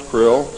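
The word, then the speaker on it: Krlll: his name and title was his omnipotent highness krill pronounced krill spelled kr L ll r CR LLL in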